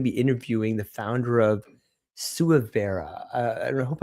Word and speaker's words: Suivera: SuVera? You are. SuVera.